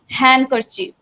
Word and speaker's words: handkerchief: After N, D always silent, and before G, before G, D always silent. Okay, মানে এন এর পর ডি হলে সেখানে ডি কে silent করে প্রনাউন্সিয়েট করতে হবে ওয়ার্ডগুলি, অ্যান্ড জি এর আগে ডি থাকলে সেটাকে সাইলেন্ট করে ওয়ার্ডগুলি প্রনাউন্সিয়েট করতে হবে। ওকে, so like this way, it's not a handkerchief, it's the handkerchief. There I didn't pronunciate d, only I pronunciated handkerchief.